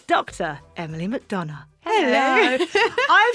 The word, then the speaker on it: MacDonagh: My work name is Mcdana, which is also a complete mouthful that no one can ever spell, but you pronounced it absolutely correctly because I used to